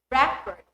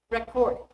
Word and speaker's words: record: The noun is stressed on the first syllable. The verb is on the second. For examples, project, project, produce, produce, record, record.